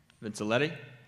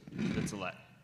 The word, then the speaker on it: Vincelette: Moving on, Lois Vinciletti. I think I finally got that right. 1 Joel Drive. What is silent? The E. Oh, Vincelette.